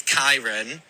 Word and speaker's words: Khyran: So, drag name is Khyran like Ty and my boy name is Kieran, but it's spelled the same way, so it can get confusing. But yeah, Khyran in drag, Kieran out. Khyran in drag, Kieran out of drag.